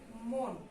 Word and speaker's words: মন: এটার আমাদের উচ্চারণ হচ্ছে মন। কেমন? মনে গিয়ে যেহেতু এটা শেষ হয়ে যাচ্ছে এবং একটা ধাক্কা পাচ্ছে, তাই নিচে একটা হসন্ত হবে।